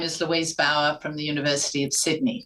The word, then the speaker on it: Bauer: Bauer. Bauer, got it.